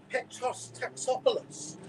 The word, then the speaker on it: Taxopoulos: Petros Taxopoulos is how you pronounce it. After 3 years of saying it wrong, someone finally quoted me this.